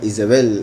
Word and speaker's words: Isabel: Recuerden que Jezabel, o en realidad, bueno, Jezabel es como aparece aquí, Isabel sería Isabel, la pronunciación del nombre, y significa, o lo traducen como la Virgen del Señor.